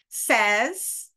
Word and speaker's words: says: says, and pay attention to the pronunciation of the verb to say. I say, you say, she says, he says. So the American Bar Association